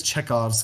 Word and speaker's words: Chekhov: gun or maybe it's chekhov's gun i can't remember how his name is pronounced if you're talking about the author the playwright is chekhov yes this is chekhov's